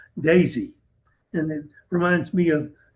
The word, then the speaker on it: DESI: DESI, I I just learned is pronounced DESI.